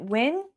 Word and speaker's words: Nguyen: Is it Win? Like Nguyen? Yeah, Win. Win. Is that how you say it? Win? Well, that's how we said it I had some wins that came to school with me.